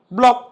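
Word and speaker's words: block: बघू शकता लॉक शॉक ब्लॉक नक स्टक तुमही बघितल का याच्यामध्ये सी च्या नंतर के किंवा सी च्या अगोदर एस येत असेल तर सी सायलेंट असतो संपलं किती इी पद्धतीने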